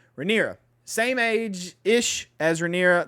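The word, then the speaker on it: Rhaenyra: as the heir um rihanna riander rand how did you say her name renera ranira wow i was way the hell off renera same age ish as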